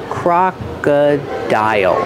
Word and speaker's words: crocodile: is a crocodile pronunciation crocodile crocodile pronunciation C cro CR use the open Sound a like hot and stop Croc the second vowel is uh like cup and up Croc Croc and the